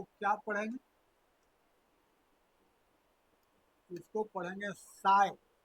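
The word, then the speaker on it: psi: इसको पढ़ेंगे साई। P silent रहता है, क्या पढ़ेंगे? साई पढ़ेंगे, है ना।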